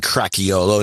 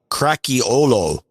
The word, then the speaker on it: Cracchiolo: Well, we're starting off with Andy Cracchiolo, and it's the Italian Cracchiolo, not the Hawaiian Cracchiolo.